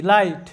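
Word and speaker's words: light: এর উচ্চারণ হবে না জি এইচ টা সাইলেন্ট থাকবে তাহলে এল আই লাই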